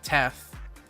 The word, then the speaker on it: Teth: I went and actually looked up how to pronounce all of the classifications yesterday because I was very confused. It's Zayin, Teth, Vav, Hey, or Hey, Vav, Aleph.